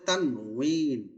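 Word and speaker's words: تنوين: সূর্যের দুই পেশকে বলে হুজুর এটার উচ্চারণ কি তানভীন হবে না তানউইন এটা মূলত আরবিক শব্দ তো তার সঠিক উচ্চারণ হচ্ছে তানুইন তানুইন আমরা বাংলাতে সারাজীবন তানবিন বলছি তানবিন তানবিন পড়ছি সারাজীবন হ্যাঁ সারাজীবন আমরা তানবিনই পড়ে আসছি কিন্তু এটা মূল শব্দ উচ্চারণ হচ্ছে তানউইন ওয়াও দিয়ে তানভীন তানউইন বলে হুম জি আমরা শব্দগুলো একটু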